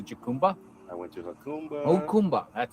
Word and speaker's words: Jacumba: Okumba. That's how you say it. Jacumba.